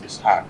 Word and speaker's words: Ishaq: I actually pronounce it as Ishaq.